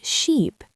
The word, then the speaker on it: sheep: Right, ship has a short i sound like in sit or bit. Sheep has a long e sound like in sea or tree.